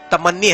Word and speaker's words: تمنی: اختیار کر چکے ہیں۔ عربی کا صحیح تلفظ تمنی ہے، مگر فارسی والوں نے اس کو لیا تو تمنا کر دیا۔ اب دیکھو تمنی لفظ